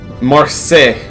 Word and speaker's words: Marseille: blown off balance same our sin days it's pronounced Marseille okay thank you Alfred Pennyworth what are you